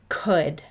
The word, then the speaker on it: could: high frequency word is could the word could does not play fair the oh you vowel team does not say ow like we would expect let's say this word